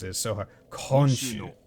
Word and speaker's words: 今週: 今週の、 Okay, so honshu. 今週の、 Honshu? 今週の土曜 Is 日、 it- 公園に行きませんか See, I fuck. Like the way that they sometimes pronounce it is so hard. Konshu. Konshu, not honshu.